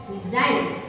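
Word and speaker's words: design: से डी इ एस आई जी एल मतलब डिजाइन यहां पे ब यहां पे जी साइलेंट है नेक्स्ट हम देखेंगे जैसे कि रिजन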